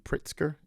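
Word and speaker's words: Pritzker: telling a story about um billionaire Chicago JB Pritsker. Did I pronounce it?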